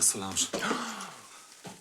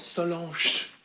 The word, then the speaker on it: Solange: Pay attention to Solange. You don't pronounce it "Solan-che," you say "Solan-ge." It's in French. You are in France.